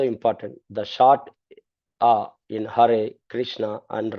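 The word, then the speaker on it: Hare: should be clearly heard the e in har is pronounced like in red but longer not e like in they as it sometimes heard the consonants ha ma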